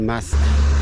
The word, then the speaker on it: Mas: it could also be Mas. I feel like in the north you're more likely to have a silent S at the end of a word or a town.